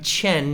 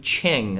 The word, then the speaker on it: Chen: my name wrong Lee my name is Chen not Ching okay the simple fact